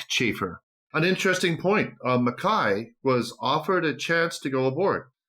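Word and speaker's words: Mackay: and now it's Makai I say Makai I think it's Makai I don't know why I say McKay let's call the whole thing off all right Makai Makai yes Makai yeah probably the Scottish pronunciation and he was from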